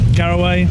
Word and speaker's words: Garaway: I'm here at beautiful Millfield with Mark Garaway. That's right you say, isn't it? That is. It's very well pronounced.